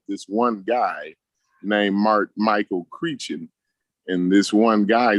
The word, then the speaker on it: Crichton: His name is Michael Critchen. Okay. It's spelled Crichton. Okay.